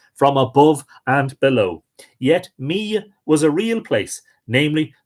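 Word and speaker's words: Mide: held in common done Mia is pronounced me okay me I'm a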